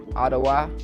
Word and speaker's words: Ottawa: Ottawa, that's how you say it.